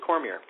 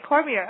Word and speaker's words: Cormier: i gotta bring on the line cormier now i want to say cormier because we've just chatted with an adley cormier from louisiana so it's cormier or cormier actually it's cormier okay cormier okay so i was just bringing the french